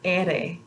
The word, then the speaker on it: ere: This is the letter ere. Ere. So we'll focus on Portuguese another time. Makes a totally different sound in their alphabet, but in the Spanish alphabet is pronounced ere.